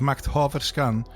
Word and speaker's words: Makthaverskan: Makthaverskan. So this is Macht Haverskan with Comfort.